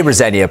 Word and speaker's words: Rosenior: I say Rosenia, by the way.